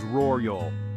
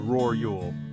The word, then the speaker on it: rural: with the word rural the Double R sound can be a bit tricky but I promise it's manageable with a little practice the correct pronunciation is rool let's focus on that double r sound roru it's important to give each R its due say it slowly with